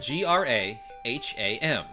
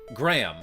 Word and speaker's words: Graham: It's spelled G R A H A M. But often I pronounce it Graham, like one syllable.